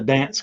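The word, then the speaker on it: Gdańsk: It's pronounced Here you go. dance.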